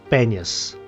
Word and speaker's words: Banias: Thus came the name Panias, in Arabic pronounced Banias.